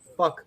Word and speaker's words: Phuc: Where specifically does fuck live? I believe that's how you say it.